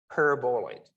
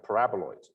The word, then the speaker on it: paraboloid: it's right listed here called elliptic parabolite right i think it's supposed to be pronounced uh paraboloids okay elliptic paraboloid uh